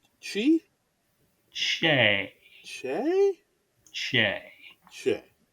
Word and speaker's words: Che: I think it's pronounced Shay. I think it's pronounced Chi. Shay. Che? Shay. Che. Shay.